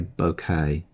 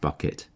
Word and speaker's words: Bouquet: say this should say bouquet but in the manual it says pronounced bucket because it's a Bucket Brigade delay emulation what you're seeing here